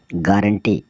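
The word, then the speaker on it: guarantee: you alphabet की र जिस ऐसे वर्ड्स जिसमें यू साइलेंट रहता है जी यू आर ए एन T double E गारंटी गारंटी मतलब गारंटी कि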